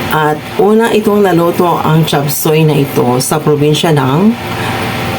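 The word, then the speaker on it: 雜碎: But in the Chinese term uh it is pronounced as chapsai.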